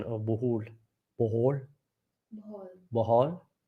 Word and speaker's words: Bohol: Jay Hunt, not being critical, but please work on your pronunciation of Bohol. Bohol? Bohol. Bohol? It's Bohol. Bohol. It's Bohol. not Bohol. Not Bohol, but Bohol. Yeah, because it's oh, you should sound it.